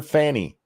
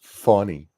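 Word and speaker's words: Fani: As long as she's been in public life, nobody's ever pronounced it Fawny. Not once. I've seen her name said on the news, and not just Fox News. All people call her Fanny. And they're like, no, it's funny.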